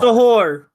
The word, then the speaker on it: Suhur: Like, how do I pronounce Suhur? Sahur.